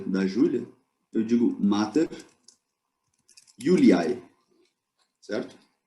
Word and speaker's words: Iuliae: aparecer assim, mas esse J é para ser pronunciado como I, né, como uma semivogal de I. Yulia, Yuliai, feminino. Então, se eu quiser dizer a mãe de Júlia, da Júlia, eu digo Mater Yuliai, certo?